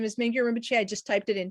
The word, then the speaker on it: Mingyur Rinpoche: On the song, in that the Rinpoche Minya, however you say his name, said an object of meditation.